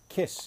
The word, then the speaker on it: Kaees: the landmark tank from a company named Keys kiss is actually how you pronounce it ke s Kiss Is How They